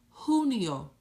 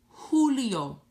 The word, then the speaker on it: Julio: s marzo Abril ah breathe abrini Mario Mario Julio the letter J sounds like the letter H Julio Julio Julio you may have heard someone that speak